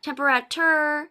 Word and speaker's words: temperature: not temperature it's not temperature it's temperature temp ra sure the t-u-r-e in English makes the chir sound temperature temp ra sure